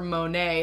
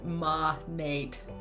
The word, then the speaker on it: Monat: was moan at my I voted for Monet that's how I tend to pronounce it at least in my videos but overall it looks like Monat is the choice I had no idea was ma Nate it just doesn't flow